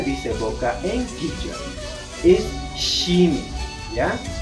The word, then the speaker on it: shimi: h i n i Jimi tal como se pronuncia los ingleses o los angloparlantes sí que van a pronunciar pronunciar muy bien porque con ellos compartimos la sh al igual que quichua sin embargo en español